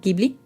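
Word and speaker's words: Ghibli: If you ever saw a Gibli film, Gibli. Do you say Gibli or Gibli? I say Gibli because in Italian it's Gibli.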